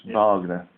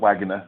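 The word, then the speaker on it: Wagner: course it's it's because because W in German is is V so it's Vagner not not wager as way you call vager so so he said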